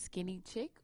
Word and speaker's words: SKINNYYCHIC: Basically, that's skinny chick or skinny chic. You can pronounce it either way.